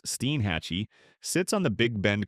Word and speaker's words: Steinhatchee: Steinhatchee, pronounced Steenhatchee, sits on the Big Bend Coast, that gentle curve where the panhandle melts into the peninsula.